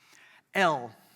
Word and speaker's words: El: El, it's a long E vowel.